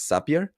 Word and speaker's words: Zapier: Well, I think that the right way to say it is Zapier.